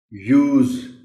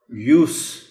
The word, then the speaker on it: use: As verb it is pronounced as use, z sound aati, lekin jab ye noun hoga to phir isko bola jayega use. Verb mein z sound hai aur noun mein seen ki awaaz hai, use.